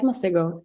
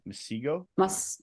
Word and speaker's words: Masego: Who's like a favorite R&B artist now that like I like Masego. Masigo? Masego. That's how I pronounce it, at least.